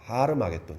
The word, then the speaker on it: 하르마겟돈: 이 아마겟돈은 히브리어로 읽으면은 하르마겟돈입니다. 하르마겟돈.